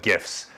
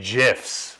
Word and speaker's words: GIF: and you guys I like the addition of gifts within the conversation nice or should I say gifs which is a pair of the proper way